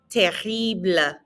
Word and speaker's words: terrible: Pas terrible. Lots of good pronunciation practice here. Again, that S is silent and the R is in the back of your throat.